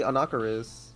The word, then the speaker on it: Anakaris: If you say Anakaris, you're fucking weird. It's literally Anakaris.